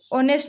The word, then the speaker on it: honest: ऐसे ये ऑनेस्ट बोलेंगे, इसको हॉनेस्ट नहीं बोलेंगे, इसमें एच क्या रहता है साइलेंट रहता है तो ये भी कॉन्सोनेंट